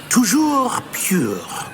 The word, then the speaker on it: Toujours Pur: And, of course, as Master knows, in French. Yes, of course. I order you to pronounce it for me. Oh, Master knows that Scrope's French is most pitiful. Oh, very well. Toujours pure.